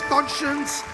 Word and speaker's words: conscience: The answer is conscience, and it is pronounced like that and not like the spelling.